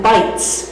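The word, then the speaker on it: bytes: brain is measured in bites which is spelled b y Tes but think bites of a sandwich fill my stomach that's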